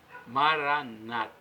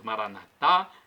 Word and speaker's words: Maranata: Senhor Jesus vem senhor nós colocamos a tônica na última sílaba nosso católicos nossos irmãos separados os evangélicos ou protestantes colocam a tônica na penúltima sílaba Maranata Não importa se nós falamos Maranata e nossos irmãos evangélicos